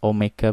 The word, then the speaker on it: omega: Omega ya, omega bacanya.